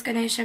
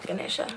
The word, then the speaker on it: Ganesha: creates internal balance so I particularly would refer to him as Ganesh Ganesha but there are different pronunciations depending on what language you are saying his name in the third thing that